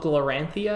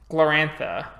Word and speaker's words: Glorantha: Yeah, Gloranthia. Let me Google it. I'm probably mispronouncing the shit out of it, so if anyone wants to correct me, Glorantha, right? Fantasy world created by Greg Stafford.